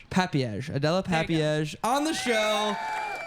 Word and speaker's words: Papież: papay to the pro did I say it right not even close no all right how do you say your last name let's start with that papage papage Adella papage on the